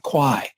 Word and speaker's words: Qi: In their traditional Chinese medicine, when you see the scalloped tongue, they say there's an absence of, I think they pronounce it Qi, Q-I.